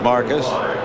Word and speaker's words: Marvcus: Marvcus, pronounced Marcus.